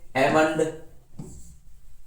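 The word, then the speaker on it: almond: फिर देखो silent L, एल भी साइलेंट होता है, जैसे एमंड, बाम, काफ, काम, चाक, कुड, फाक, हाफ, हॉक ना, पाम, Simon, should, torque, walk, would, याक। तो यहां पर एल की ध्वनि शांत होती है, ऐसे बहुत सारे वर्ड है।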